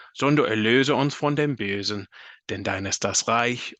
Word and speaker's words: Bösen: two here where there's an umlaut over the O. So that's a long O sound as well. So instead of Basen, it's Bösen. So hopefully that's helpful.